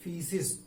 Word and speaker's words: faeces: फीसिस FAECES, इसमें ए silent है, pronunciation होता है फीसिस।